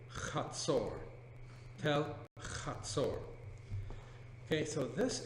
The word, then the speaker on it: Hazor: Tel, well, you'll often hear it referred to as Tel Hazor. The correct pronunciation, Chatzor.